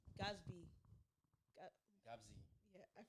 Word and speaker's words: Gatsby: movie, Like Wait, is it not Gabsy? It's it's Gabsy. Gatsby.